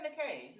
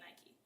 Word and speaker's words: Nikē: I said Nikē. No, I accidentally said Nike. She tried to irritate me because her name is spelled Nikē.